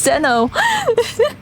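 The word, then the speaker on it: Xeno: fine but Zeno if it's your favorite series you should pronounce it correctly it's Zeno they just used the X cuz they thought it looked cool I'm sure but is Zeno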